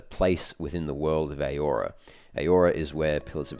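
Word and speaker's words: Eora: which is a place within the world of aora aora is where pillars of Eternity is set that's spelled e-o-r-a um and yes steadfire is is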